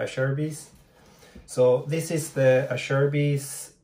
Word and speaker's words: Acerbis: a google and uh it's supposed to be pronounced i share a beast so uh cher and bees so i sherbies so this is the asherby's x factor handguard i